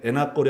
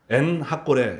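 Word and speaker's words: 엔학고레: 읽을 때 저도 에나꼬레, 여러분도 아까 읽으실 때 에나꼬레 하지만 에나꼬레는 엔이라는 게 샘이란 뜻입니다. 핫꼬레가 부르짖음이라는 것입니다. 엔 핫꼬레 이렇게 발음해야 올바른 것이죠.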